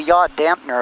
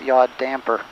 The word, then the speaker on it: yaw damper: I I say yaw dampener a lot, but it's not really how it's pronounced. It's yaw damper.